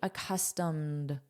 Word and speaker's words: accustomed: Notice the pronunciation, this is a soft D, accustomed, accustomed.